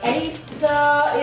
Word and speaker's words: Ada: Okay, so yes, you are locked into Ladies Night right here on Urban Extra with me, and I have the lovely Ada in the studio.